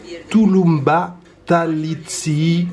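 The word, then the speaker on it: tulumba tatlısı: Les petits oranges là, c'est Tulumba Talitsi. Attention à la prononciation.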